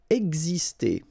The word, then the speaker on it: exister: Exister. Okay, so it's really this X here, it's pronounced like gz, gz, ex, exister. Boire.